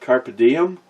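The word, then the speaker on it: carpe diem: table still good and fun carp team is pronounced car piu carpet carpet diem Latin for seize the day oh and thank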